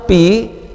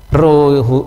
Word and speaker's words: rho: P huruf p besar tapi jangan dibaca P ya memang di minggu-minggu pertama itu mahasiswa kalau disuruh baca rho R itu dibaca P Bukan Ya bukan ini